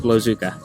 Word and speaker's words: Blowzuka: That's me in my senior year of high school, and that is the manual breathing operated device for demonstrating blood vessel occlusion fluid dynamics, pronounced Blowzuka.